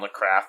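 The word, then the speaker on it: Nathrakh: We have, at least I know, there's a new Anal Nathrak album, or Nathrak album coming out as well. Is that how you pronounce it? Yeah, it's Nathrak, not Nakrath.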